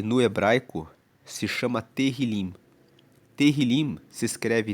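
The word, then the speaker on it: Tehilim: Terrilim se escreve t e h i l i m terrilim e significa louvores.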